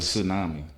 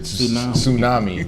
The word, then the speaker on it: tsunami: the silver tsami was tsunami yeah tsami yeah you don't pronounce the T the silver tsami or tsunami whatever you don't pronounce the T whatever it doesn't matter